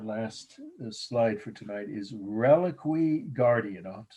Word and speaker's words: reliquary: The last slide for tonight is Reliquary Guardian. I'll have to spell that for you. Reliquary, I've heard people say, but reliquary is how most people pronounce it.